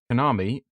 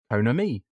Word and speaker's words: Konami: pronounce it but yes apparently it's me who said instead of Konami hona me uh that was oh